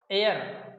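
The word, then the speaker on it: heir: ठीक है, इन नाउन्स में एच साइलेंट है, इन सभी नाउन में क्या है, एच साइलेंट है। ठीक है, इसको बोलेंगे ऑनेस्ट, ओ नेस्ट, ऑनरेरियम, ऑनरेरियम ये हो गया, आवर, एयर, एरेस, ये है। देखो कहीं भी एच की ध्वनि नहीं आ रही है, एच का मतलब है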